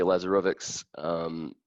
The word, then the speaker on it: Lazarovics: We have Tony Lazarovics, Associate Director for Academic Advising for College of Arts and Sciences.